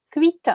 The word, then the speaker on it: cuites: ça c'est cuit voilà on prononce cuit mais si ces cinq six et féminins comme les carottes il faut dire les carottes sont cuites en plus c'est une